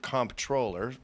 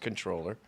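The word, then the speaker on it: comptroller: So, you need a comp Well, they pronounce it comproller, but it's pronounced controller.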